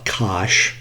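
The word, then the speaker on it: cosh: use the Su variable U um uh we pronounce this often uh Kos so Kos squared U okay minus and then hyperbolic sign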